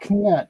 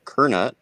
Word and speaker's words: Knut: Knut. That's how we say it here. Knut. Oh. Okay. Kernut is the proper way, but it's all good. I'm Danish. I'm allowed to say it wrong.